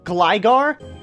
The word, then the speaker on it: Gligar: I know it's pronounced gligar my god since gliscor has the i sound as well but gligar sounds a lot smoother